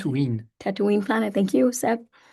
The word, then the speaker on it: Tatooine: That's how we pronounce it. Tatooine.